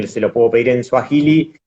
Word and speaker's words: Swahili: Claro, te iba a preguntar justamente esto de el Sahuili, ¿no? ¿Se dice? Que me dijiste, se Swahili, pronuncia Swahili. Bien. SW, Swahili.